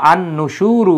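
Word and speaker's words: النُّشُورُ: হয় সূত্র অনুসারে এজন্য আন নুসুরু হয়েছে আন নুসুরু আলিফ লামের উচ্চারণ হয় না তাহলে ইলাইহিন নুসুরু মানে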